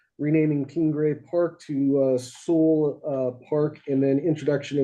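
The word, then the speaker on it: Soule: um this weekend and that's that's the correct pronunciation is soul I very much appreciate that thank you that's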